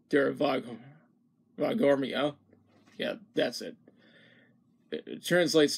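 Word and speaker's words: Der Voghormya: Anyways, the song itself is an adaptation, it's an adaptation of the song Dura Vagmoria. No, it's Dura Vagormia.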